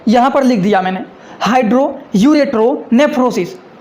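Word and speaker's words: hydroureteronephrosis: देखिए आप लोगों को समझने के लिए यहाँ पर लिख दिया मैंने, हाइड्रो यूरेट्रो नेफ्रोसिस। ये इतना बड़ा लिखा गया है ये। तो इनका मतलब क्या होता है, देखिए हाइड्रो यूरेट्रो नेफ्रोसिस का मतलब होता है कि किडनी में पानी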